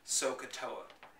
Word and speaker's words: SOHCAHTOA: unlock the mystery of the wonderful word SOHCAHTOA. And it's 3 syllables.